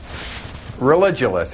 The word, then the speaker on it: Religulous: It's Religulous. It's like you're saying religion and then you go to ridiculous.